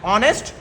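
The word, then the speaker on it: honest: आर आई एम ऑनेस्ट हा ओ एन ए एस टी ऑनेस्ट नहीं बोला जाता है उसको इधर हा साइलेंट होता है ऑनेस्ट हार्ड वर्किंग और जो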